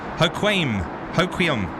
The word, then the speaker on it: Hoquiam: and where I'm from is pronounced hoe like a garden rake Qui and um Hoquiam in uh beautiful United